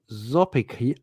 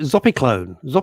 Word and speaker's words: zopiclone: Lisa James, Russ, if all else fails, ask your GP for a low dose of Zopicon. Zopicon. What the hell? How do I pronounce it? Zopiclone.